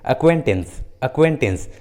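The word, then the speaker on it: acquaintance: जैसे अक्वेंटेंस, देखिए इस इंग्लिश वर्ड में सी क्यू के पहले आया है, इसलिए रूल के अनुसार सी का उच्चारण नहीं हुआ है, अक्वेंटेंस।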